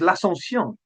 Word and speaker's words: l'Ascension: In French, there's hardly any difference in sound, but it is there if your ear is well tuned to French pronunciation. So the French for Assumption Day is l'Assomption. L'Assomption. And for Ascension Day is l'Ascension. L'Ascension, l'Ascension.